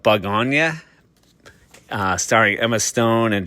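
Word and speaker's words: Bugonia: I haven't heard it actually pronounced out loud, but I believe you call it Bug Ona.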